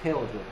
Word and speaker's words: tear: 티어. 아 아니고 테어죠. 티어라고 읽으면 눈물이잖아. 티어라고 읽으면 눈물이지만 테어라고 읽으면 무너뜨리다, 부수다. tear down, take down.